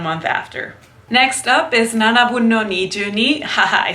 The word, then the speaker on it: Nanabun no Nijuni: Next up is Nanabun no Nijuni.